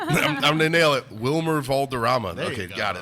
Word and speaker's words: Wilmer Valderrama: Wilmer Valderrama. There you Okay, go. got it. Third try. I Anyways. think it's Vilmer.